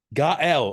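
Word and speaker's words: Gaëlle: I kind of read the name, but Yeah, it's always a hard name to pronounce. It's like Gaelle. Gaelle.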